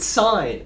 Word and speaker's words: sin: for now side now we tend to um abbreviate that to without the e okay but we still pronounce it sign right it still comes